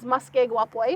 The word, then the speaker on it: muskeg wapoi: My cookum taught me how to say it, is muskeg wapoi. If you want to try to say that real fast.